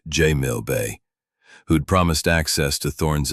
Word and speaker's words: Jamil Bay: I obliged, but my mission was with Inspector Jamil Bay, pronounced J Mill Bay, who'd promised access to Thorn's effects at the police station near Sultanamett Square.